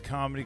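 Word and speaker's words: Kum: There's one called the Come and Go. Have you heard about that? Yeah, it's a gas station and it Come and Go. But it's spelled K-U-M.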